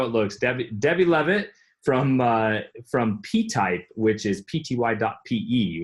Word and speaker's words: Levitt: It's just Levitt. Kind of the way it looks. Just how it looks. Debbie Levitt from PType, which is pty.pe, which is a pretty clever domain.